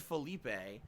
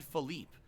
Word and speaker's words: Philippe: Okay, so it's not Felipe. It's Philippe. Because he just did a 50-bit cheer and said, not being funny, my name is actually pronounced Philippe.